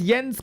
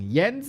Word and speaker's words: Jens: You of all people should be the ones to pronounce Yens correctly." But no, even the Swedes do it wrong. Yens is Yens na na na na.